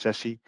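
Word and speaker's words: SASE: so Sashi is Pro s a e is pronounced Sessy it's a it's a term C up by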